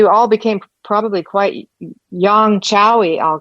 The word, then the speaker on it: qiao: The Chao. Okay, good. The Chao is spelled QIAO, and the do, DU, and that's equivalent to doing.